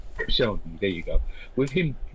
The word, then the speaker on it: Koscielny: And in terms of Arsenal, with Konchesky, is it Konchesky? I can never say his name correctly. Koscielny, there you go.